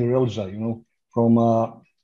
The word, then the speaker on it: Relja: name correctly because uh you you said real ja and uh everybody calls me relja you know from sounds